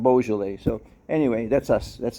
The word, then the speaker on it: Beaujolais: it's like you know we say boujoule instead of beaujolais so anyway that's us